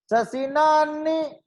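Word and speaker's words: शशिनाह्नि: उसमें वो पहली लाइन का मेरे को प्रोनाउंसिएशन नहीं पता है, वो शशि, किम फिर इसके बाद में क्या लिखा है? शशिनान्नी, शशिनान्नी, शशिनान्नी नानी बोलना है ना?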